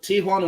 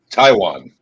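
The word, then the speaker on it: Taijuan: Just figure, whenever you see T-A-J-U-A, just T-A-I-W-A-N. Just pronounce it like you would the country.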